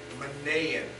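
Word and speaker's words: Manaen: Manaean, that's how you pronounce his name.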